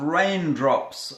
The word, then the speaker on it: Reign Drops: So we're going to do a little experiment here today, because one of the products that we manufacture is called raindrops. Again, it's spelled R-E-I-G-N. Raindrops.